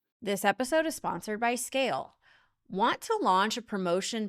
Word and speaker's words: Scayle: So visit Scale today. That's SCAYLE. Yes, the Y is silent because you never have to ask why Scale isn't performing.